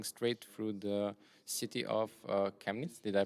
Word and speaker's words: Chemnitz: will be flying straight through the city of chemnitz did i pronounce that correctly yeah that's correct and uh